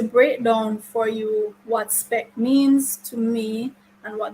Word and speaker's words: SPECC: in this affirmation that I am referring to spec. Now, let me introduce you to spec, and that is spelled SPECC.